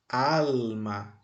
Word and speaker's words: alma: posso separar aqui e posso agora destacar a sílaba tônica alma é al al é a sílaba tônica e qual é